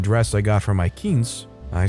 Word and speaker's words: quince: "It's just a queen's party. This is homecoming, and the crown's at stake." I say, "It's pronounced quince. Quinceañera," I said, very irritated.